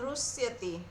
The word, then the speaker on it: रुष्यति: अनपेक्ष शुचिर्दक्ष उदासीनो गतव्यथ सर्वारंभ परित्यागी यो मद्भक्तः स मे प्रियः यो न ऋष्यसि के बताए थे ऋष्यसि यो न रुष्यति।